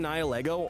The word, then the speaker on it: Nihilego: I'm not trying to trigger people and make them upset, but I actually just don't know the pronunciations. Nihil ego.